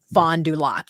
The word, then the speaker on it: Fond du Lac: And just as a point of clarification, Wayne said he thinks it's pronounced Fond du Lac, the name of the tribe. I was struggling with that. Fond du Lac band. Fond du Lac, yeah.